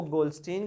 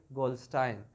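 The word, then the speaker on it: Goldstein: हम Asian pronunciation में इसको गोल्डस्टीन कहते हैं, एन अमेरिकन से गोल्डस्टाइन।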